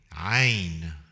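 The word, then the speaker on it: عين: Ein. Now, how do we actually pronounce this ein?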